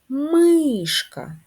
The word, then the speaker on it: мишка: позначаємо кружечком ставимо наголоси мишка наголос на перший склад кішка наголос на перший